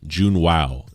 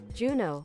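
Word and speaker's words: Juneau: Regional Hospital shanoa Alaska Jun wow Jun Jun Jun wow Jun wow pronunciation Juno Juno oh that's e see like the movie Marlett Regional Hospital Juno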